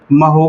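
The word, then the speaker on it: mho: इसी को आप ओम ओम की जानते हो स्पेलिंग ओ एच एम होती है इसका उल्टा करो क्या हो जाएगा महो हो जाएगा या इसी को हम लोग ना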